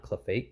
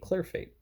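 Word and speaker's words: Clerfayt: I said it wrong, not Cliff Fate. Clear Fate.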